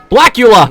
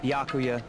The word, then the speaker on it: Byakuya: you're all so annoying back blackula it's byakuya byakuya byakuya byaku Baka Baka Baka